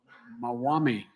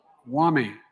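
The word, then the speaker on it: Maumee: I always mispronounce it, the Mawami River, right? Wami River in Toledo.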